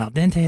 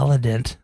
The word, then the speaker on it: al dente: Yeah, but come on, al dente.